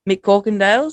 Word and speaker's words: McCorkindale: big welcome to john mccorkendale so how are you tonight john you're good good mate thanks having me on appreciate it i didn't butcher the last name did i nah it's pretty long no